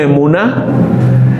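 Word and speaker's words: אמונה: Entonces se pronuncia emuná, y por definición es firmeza, seguridad y fidelidad.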